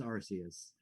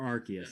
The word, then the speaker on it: Arceus: And now we're getting Pokemon Legends Arceus or Arceus. I'm sorry. Not allowed to say the Arse. That's the reason they've changed the pronunciation of that Pokemon. It used to be Arceus. Stand by what you said.